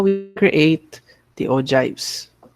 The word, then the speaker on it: ogive: So that's how we create the ogives. Others would call it ogive, but we'll be pronouncing it as ogive.